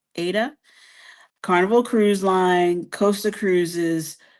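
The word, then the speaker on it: AIDA: I'm thinking this is is pronounced Ada. A I D A. Ada.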